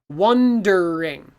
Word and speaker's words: wondering: wondering too many sounds so we simplify it and it becomes one drink so we take this e and it disappears okay in niagara falls